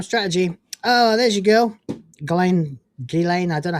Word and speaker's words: Ghislaine: Ghislaine, I don't know how you pronounce it.